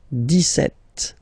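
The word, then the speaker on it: dix-sept: clear but then for the pronunciation deset okay so you don't insist on the S deset deset set okay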